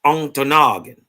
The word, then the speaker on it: Ontonagon: This is Ontonagon. They dog don't say it right. It's Ontonagon. Right?